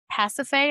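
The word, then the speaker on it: Pasiphaë: He caused King Minus's wife uh um Pacafe, I believe is how you pronounce her name, um to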